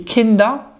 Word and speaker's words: Kinder: tu connais les kinder ben oui et kenda avec la bonne prononciation basse et les enfants